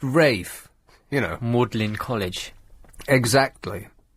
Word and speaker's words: Ralph: like bey um oh there's all sorts of uh uh posh words that uh Orthrop spell or thorp pronounced all thrup Ralph pronounced rafe you know mlin college